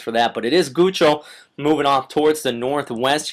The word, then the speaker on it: Guchol: But let's look away from the stationary boundary at Tropical Storm Guchol, and that is how you pronounce it, though I've had issues with this all day.